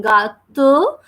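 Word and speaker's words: gâteau: So we are saying ga to, and then we have EAU. In a combination, we read that word or we pronounce that word as O. It gives the sound of O.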